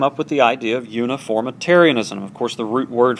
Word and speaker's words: uniformitarianism: Okay, now contrast that with a doctrine called uniformitarianism. Uniformitarianism, that's a fancy nine-syllable word. Say that. Uniformitarianism.